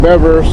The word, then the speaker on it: Bevers: Jason Bevers. That is how you pronounce his name, because I met Bob Bevers and Nina, and that's the way he told me to pronounce it.